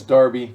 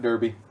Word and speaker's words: Darby: or an iron oh it's Darby not Derby I'm gonna butcher them